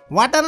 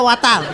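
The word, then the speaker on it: water: ওয়াটার। Lipstick কি বেশি দিয়ে ফেলছেন? ওয়াটার না, এটা ওয়াটার। ওয়াটার। জি স্যার। জিহ্বার আগে সামনের দুই দাঁতের সাথে লাগবে।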